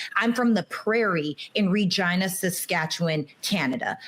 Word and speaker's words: Regina: I'm from the prairie in Regina, Saskatchewan, Canada. Right. And the prairie like Regina is the city that I'm from. The slogan is the city that rhymes with fun.